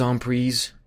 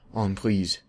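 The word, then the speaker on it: en prise: even have to calculate the queen is Onre that's the correct pronunciation by the way onree French people can um can let you know about that I didn't even calculate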